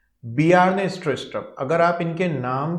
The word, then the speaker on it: Bjarne Stroustrup: तो यहाँ पर ये जो बी जारने स्ट्रोस्ट्रप है इसे हम बी जारने स्ट्रोस्ट्रप नहीं पढ़ेंगे, इसे हम पढ़ेंगे बियार्ने स्ट्रोस्ट्रप। ये जे यहाँ पर साइलेंट है साथियों। बियार्ने स्ट्रोस्ट्रप इज a Danish computer scientist.